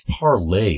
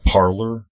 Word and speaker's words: Parler: I think it's called, it's spelled Parleur, but I think it means it's parlay in French, believe it or not. Parler. Most Americans will say Parlor.